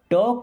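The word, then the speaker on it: talk: टॉक टू मी, देखिए यहाँ पे एल साइलेंट होता है ना, टॉक मीन्स बात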